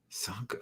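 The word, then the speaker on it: Csonka: We got Larry Zonka. Sanka. That's how you pronounce it.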